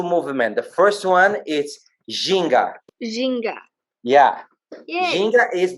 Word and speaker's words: ginga: The first one is ginga.